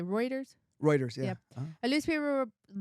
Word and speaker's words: Reuters: Reuters, yeah.